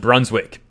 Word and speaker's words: Brunswick: this town in German I don't know how to pronounce it it's like a bran schwag brunch Weig probably but in English it's pronounced Brunswick which is a city